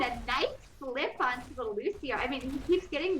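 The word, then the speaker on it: Lúcio: You know, nice garage, but it's Lucio, so he's just gonna scuttle away there.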